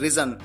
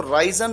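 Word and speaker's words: risen: यहां पर आपको ध्यान रखना है कि जो थर्ड फॉर्म है वो रिजन, उसको प्रोनाउंस किया जाता है रिजन। कई बार स्टूडेंट्स इसको राइजन प्रोनाउंस करते हैं, ये गलत है।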